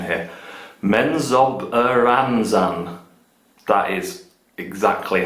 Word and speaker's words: Menzoberranzan: more victory points, like, let me practice my pronunciation here, Menzoberranzan.